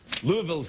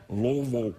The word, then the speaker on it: Louisville: uh this is uh from jason in louisville louisville's and kentucky and you don't say louisville or they'll know you're from out of town you got to say lomo that's how you pronounce it just try and